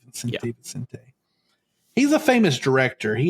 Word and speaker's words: Vicente: I think I said his name wrong the entire last episode, but it's Vicente, I believe. Vicente.